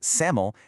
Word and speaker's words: SAML: You pronounce it SAML and it stands for security assertion markup language.